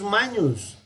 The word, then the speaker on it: magnus: Ojo, la G y la N en latín se pronuncian como una ñ. Nilus fluvius magnus est. Tiberis non est fluvius magnus.